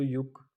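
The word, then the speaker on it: 육: उसके बाद जब फिर 60 आएगा तो युक शिप, युक मतलब 6, शिप का मतलब 10, यानी कि 6 10 होंगे तो 60 बन जाएगा।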